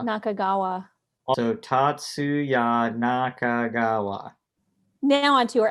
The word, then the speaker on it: Tatsuya: Are you gonna pronounce his name right? That's Nakagawa. Nakagawa. Nakagawa. Also, Tatsuya Nakagawa.